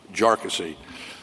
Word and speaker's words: Jarkesy: And by the way, it's pronounced jarassy uh not not a number of other ways that that it's been pronounced by by many.